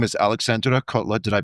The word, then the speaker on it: Aleksandra: We'll touch go back to technology, but first let's dive into your background because um you know your your name is Alexandra. Did I pronounce that properly?